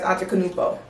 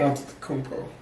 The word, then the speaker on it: Antetokounmpo: It's been over the last few years because I'm a fan of Giannis Antetokounmpo, period.